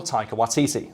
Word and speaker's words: Taika Waititi: A fact that can be largely attributed to one Taika Waititi, the director. Did I pronounce that correctly?